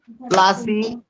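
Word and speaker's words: Plassey: প্লাসি, পলাশি, কিন্তু ইংলিশ উচ্চারণ হচ্ছে প্লাসি, তাহলে পলাশি বা ইংলিশে প্লাসি বলে, যেখানে যুদ্ধ হয়েছিল কার সঙ্গে, প্লাসিতে কার সঙ্গে কার যুদ্ধ হয়েছিল সুরজিতা পলাশিতে?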